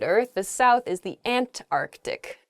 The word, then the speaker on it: Antarctic: the south is the Antarctic there's sort of like almost a hiccup in the word they're Antarctic oh uh in a sentence